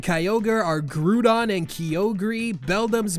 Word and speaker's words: Beldum: Groudon and Kyogre are Grudon and Kyogri, Beldum's mispronounced as Bedlam, Combusken is straight-up Combustion.